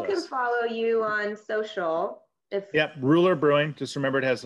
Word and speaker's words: Rouleur: So what is the pronunciation of that? Rouleur.